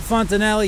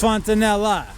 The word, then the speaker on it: fontanella: a Fontanella around here I've been saying it wrong I guess it's not Fontanella even though the word ends with a knee it's Fontanella so anyway we have to